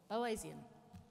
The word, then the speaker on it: Boasian: Malinowskian, and the American four-field approach, or the Bowesian, how do you say it? Bowesian approach.